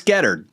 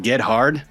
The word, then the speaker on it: Gethard: You can pronounce it any way you want, as long as you don't pronounce it phonetically, which is get hard. It's Gethard. And that's what she said.